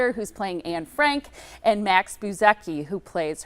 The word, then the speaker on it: Frank: And I noticed you say Frank. I was saying Frank, so I'm glad that. Yeah, but I want to say it correctly.